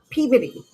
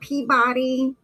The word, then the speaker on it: Peabody: So, but it's pronounced Peabody. It's not Peabody. It is Peabody.